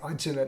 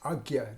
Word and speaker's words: Ajna: This is called Agya chakra. Some people say Ajna, no, it's Agya, the Sanskrit pronunciation, Agya chakra.